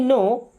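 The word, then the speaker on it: know: दो okay let मी नो late मी्स दो means मुझे नो ध्यान से देखिए इस वर्ड को यहां पे के और डब्ल्यू दोनों साइलेंट होता है इसको लिखते हैं बट पढ़ते नहीं है नो का मतलब क्या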